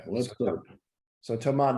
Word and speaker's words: Thomas: so Thomas does not pronounce the S in his first name, but I believe he pronounces all the S's in his last name.